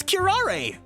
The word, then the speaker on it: curare: this kirare again or curare how do you pronounce that word again pronunciation yeah Carrara it's kirare even the smallest amount